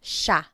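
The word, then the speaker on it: siya: point out the pronunciation it looks like it should be pronounced but it's usually pronounced sha shaa is theyo is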